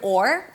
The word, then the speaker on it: or: The proper pronunciation is or. You have a nice long open O sound, and only at the end you bring the tongue up for the R.